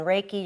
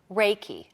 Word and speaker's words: Reiki: just a minute because Reiki so that's our II I ki what right it sounds like a foreign word okay well Reiki is a word japanese word and rea our AI is pronounced ray and it is spiritual